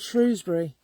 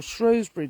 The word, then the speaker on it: Shrewsbury: Whether you're Annie or whether you're Lord Shrewsbury or Shrewsbury, depending on how you want to pronounce it.